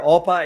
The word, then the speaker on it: OPA: castle degree culture where oppa is the thing that we say when we uh uh our open policy feeling very joyous yeah so open sorry open policies more greek with the acronym pronounced oppa which is very weird